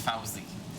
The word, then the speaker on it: Fauzi: Don't mind him, Fuzzy. He's just like that. It's Fauzi. Yeah, I know. Fuzzy. Like the bear. Fuzzy, Wuzzy, Fauzi.